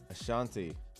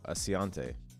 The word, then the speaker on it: Asante: East what's going on Ashanti what's going on no Asante I always get your name wrong I'm sorry bro all